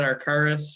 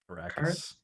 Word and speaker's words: Arrakis: But makers of Zombicide, makers of the new Kickstarter Dune, or however you pronounce that, Arcaris or whatever. Is that how you say it? Arrakis. Arrakis. Oh, it's close.